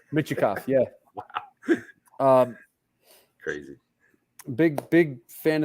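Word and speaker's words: Mintyukov: I'm not even going to try to say his name right now because Mityokov. Michikov. Michikov, is that right? Michikov, yeah.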